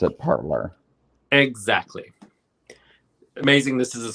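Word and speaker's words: Parler: mean parlor and it's spelled parlay but they pronounce it parlor exactly amazing this is a scream i know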